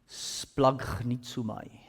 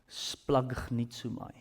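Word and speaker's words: σπλαγχνίζομαι: It gets pronounced like this. I just had to clear my throat. Splagnitsumai. Splagnitsumai.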